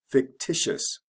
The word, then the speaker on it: fictitious: Fiction is a kind of special one. We add an extra syllable in the middle. Fiction, fictitious.